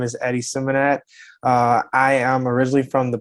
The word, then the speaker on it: Symmonett: With Eddie, is it Symmonett? Is that how you pronounce that? Yeah, Symmonett, correct?